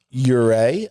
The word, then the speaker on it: Ure: This is pronounced Ure, I believe. Right, I got clarification on that today.